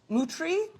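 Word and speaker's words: Moutere: Mutri? Muter? Muter is Mutri. That's how Oh. you say it.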